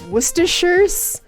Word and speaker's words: Worcestershire: it wrong so many times that the actual pronunciation is gone is it it's worcestershire's Worcestershire Worcestershire sauce Worcestershire soup is that what